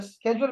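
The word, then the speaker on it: schedule: शेड्यूल और स्केजुअल में क्या फर्क है, मैं ये कह रहा हूँ।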